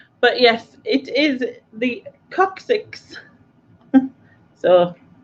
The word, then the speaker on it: coccyx: But yes, it is the coccyx. So 6 coccyxes. Yeah. A lot of cock. Yeah. I knew what you meant, Susan. I will take that. That's probably more how it sounds anyway. Coccyx.